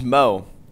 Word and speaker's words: Mo: This is Mo. His name rhymes with Joe.